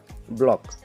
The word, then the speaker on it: block: बिल्कुल सी का प्रोनाउंसिएशन करेंगे नहीं। BLOCK, के पहले सी आया तो सी को हम प्रोनाउंस नहीं करेंगे। क्या होगा? ब्लॉक।